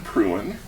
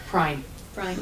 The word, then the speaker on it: Prine: month's oratory will be Pruin. Prine. Is it Prine? Prine. Thank you. I've been mispronouncing her name for years now.